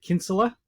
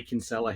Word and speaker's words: Kinsella: Look, if people in Ireland would pronounce it Kinsella, we say Kinsella here in Australia, so yeah, it's close enough.